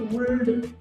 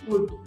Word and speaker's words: would: नहीं किया जाता है, ल वहां पे साइलेंट होता है, तो फिर वुल्ड शुड कुड ऐसे नहीं कहना चाहिए, क्या करना चाहिए, कुड शुड वुड, इस तरह से कहना चाहिए।